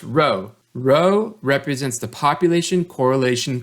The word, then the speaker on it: rho: are stated like this this Greek letter here is not P it's pronounced row row represents the population correlation coefficient so when rho equals zero that means there's no correlation but if rho doesn't equal zero that